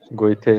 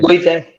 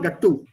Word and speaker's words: Goethe: For example, the name Goethe is so very often mispronounced. Yes, sir. Goethe. Goethe. Goethe. Johann Wolfgang von Goethe. Goethe Institute. It's not Gattu.